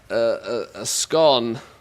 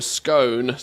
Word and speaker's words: scone: A scone or a scone, depending on where from the UK you're from. There's often an argument to the pronunciation.